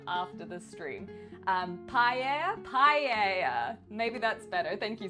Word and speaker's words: paella: So pa paella with the two L's. I'm pretty sure it's like paella because it's not tortilla.